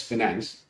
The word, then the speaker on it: 5nance: तो हमने कहा कि चलो ठीक है, FINANC तो नहीं मिल सकता है, तो why not coin it as 5NANC and pronounce it as finance?